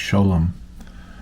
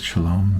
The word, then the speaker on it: Sholom: And it's actually pronounced Sholom. Everybody calls it Sholom because of the word Shalom.